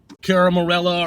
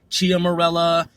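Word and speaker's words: Ciaramella: So this dude, who people believe his name is Eric Ciaramorella, or however his name is pronounced. I've heard it with the CH sound, Ciaramorella, Ciaramorella, if it's even him.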